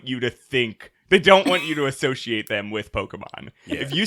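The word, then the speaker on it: Pokémon: enough to be like Pokemon or Pokemon. Yeah, like if you say Pokemans, there's no way you think earnestly that it's pronounced Pokemans.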